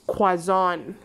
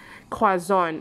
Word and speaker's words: croissant: book and croissant typical demolition croissant the correct pronunciation is quasan quason okay so which one is kwazon they are ini this one is quason okay